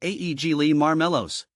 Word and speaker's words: Aegle marmelos: tricky it's pronounced as AE Le marow the emphasis is on the first syllable of each word getting the pronunciation right